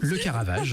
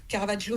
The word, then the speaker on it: Le Caravage: Le Caravage, en français, voilà. Voilà. Comme Caravaggio, c'est en italien, c'est son nom d'origine, mais c'est vrai que c'est le Caravage en français.